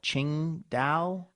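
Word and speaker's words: Tsingtao: have you noticed how hard it is to pronounce the name of that beer some people call it Ching da I feel like you have to mumble it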